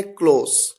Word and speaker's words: close: Spelling same है, लेकिन उनको प्रोनाउंस करने का तरीका, उनके उच्चारण का तरीका भिन्न है, डिफरेंट है।